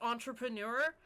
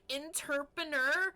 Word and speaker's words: entrepreneur: So it was Simulacra 2, when that dude just horribly mispronounced entrepreneur, and he was like, interpreneur, and that's all I fucking hear anytime I see the word entrepreneur now, is just interpreneur, and I hate it.